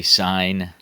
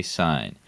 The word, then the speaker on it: sine: always going to say sine, cosine, and tangent. Okay, so even though it might be written S-I-N and in some context pronounced sin, we're going to say sine.